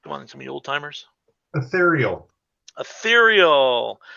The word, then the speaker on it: Ethereal: on some me Old-Timers ethereal ethereal I like to see how people pronounce it some people say etheral it's like yeah was